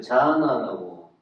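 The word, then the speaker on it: jhāna: 그래서 여기서 제가 이걸 굳이 넣은 것은, 명상은 빨리요, 그 자아나라고 읽어요.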